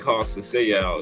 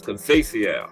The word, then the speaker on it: Conceição: I was saying Conceição. It's Conceição. Yeah, that's what I'm saying, man.